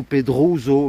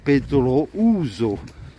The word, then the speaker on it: Pedrouzo: petite erreur de prononciation on ne dit pas aux pedrouzo méo pedro ouzou puisque je te rappelle qu'en espagnol en prononce doute les lettres oh et puis là